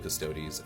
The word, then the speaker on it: Custodes: The focus of today's video is going to be the Adeptus Custodes, not custodes.